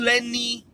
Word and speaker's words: Lenny: And then the independent was, and I saw his video on YouTube, Pandu Lenny Itula. It's not Len. Pandu Lenny Itula.